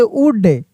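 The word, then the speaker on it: would: लिखा रहता यहां पे एस एच ओ यू एल डी तो क्या पढ़ते शुड अगर लिखा रहता यहां पे डब्ल्यू ओ यू एल एल डी तो क्या पढ़ते वुड यानी यहां पे एल साइलेंट रहता है।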